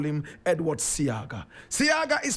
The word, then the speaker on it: Seaga: in this class we'll simply call him Edward seaga seaga is spelled s e a g a my brother